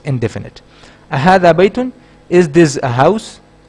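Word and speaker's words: أهذا: Ahadha. It's also for asking. Hamza with a fatha over it. Okay. Which is pronounced as a.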